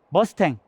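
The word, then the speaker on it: Mustang: 모르잖아요 그래서 별명이 붙는데 별명이 머스탱 이제 엣날 분들은 일본식 발음으로 무스탕이 라고 발음 하시게 됐어요 그래서 워싱과 아니면 자동차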